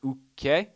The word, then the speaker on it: Uke: No, wait, it's not Uke. I've been saying it wrong. Apparently, it's Uke.